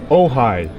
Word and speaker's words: Ojai: An Ojai is how it's pronounced. It looks like Ojai, but it's Ojai.